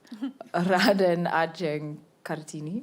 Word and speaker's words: Raden Ajeng Kartini: I'm not going to pronounce correctly. Raden Ajeng Kartini.